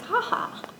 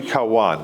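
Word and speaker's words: Cauã: So we wanted to talk about Project Haha. It's amazing. I know I'm not pronouncing it right. Well, it's actually Cauan, there's a little tilde on the end of it, it's Cauan, and that's because Brazil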